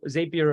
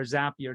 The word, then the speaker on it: Zapier: use chat gbt zapier so zapier or zapier depending on how you want to pronounce it um there is now